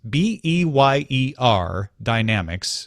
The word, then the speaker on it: Beyer Dynamics: consumers it's headphones from Bayer Dynamics Beyer Dynamics spelled like Dynamics who are producing professional audio